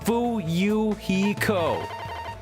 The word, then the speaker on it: Fuyuhiko: absolutely he's a good boy his name is pronounced fuyuhiko remember it got it memorized oh man what